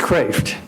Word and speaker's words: Kreeft: It's Kreeft. It's Dutch. It means lobster.